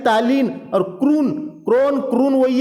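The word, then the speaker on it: krona: Sweden देश की राजधानी स्टॉकहोम है, और क्रोना यहां की मुद्रा है, जिसे क्रोन भी कहते हैं। क्रोना या क्रोन सब वही है, प्रोनाउंसिएशन थोड़ा सा अलग है लेकिन है वही।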